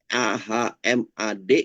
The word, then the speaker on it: Achmad: Ahmad yang AHMAD dengan ACHMAD. Ya, kira-kira bacanya sama nggak? Saya kira sama. Jarang orang yang menyebutkan Ahmad itu. CH-nya itu disebutkan H. Nah, itu jarang. Pasti nyebutnya juga Ahmad juga. Ya.